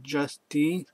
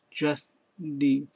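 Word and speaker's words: Justie: My name is Just D. It spelled J U S T I E. Just D. Like just like just and Tai. Put it together.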